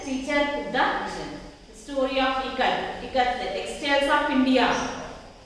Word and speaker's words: ikat: So pronunciation is I as in it. In it we pronounce I like E, not I. Ice cream, we don't pronounce it like ice cream, I. We pronounce it like it, E.